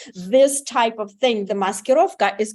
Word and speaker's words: maskirovka: was the entire Insurrection a strange mosquito which of course I'm mispronouncing a deceptive charade meant to confuse and distract Russia's enemies you don't think so I'll bet 100 you just nailed it Dr Savage and you even pronounced it perfectly muskurovka in uh in